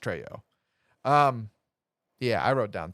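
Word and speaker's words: Trejo: played by Danny Treo is it tro or Treo I think he's tro it's probably tro he's no he is Mexican I believe he's Latin nonetheless and it would be pronounced tro um yeah I wrote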